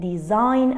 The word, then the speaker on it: design: the silent letter here a silent letter is G in all these words letter g is silent is not pronounced